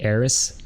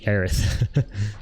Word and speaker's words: Aerith: and the Western world thought that the name was originally supposed to be Eris, but it's actually Aerith.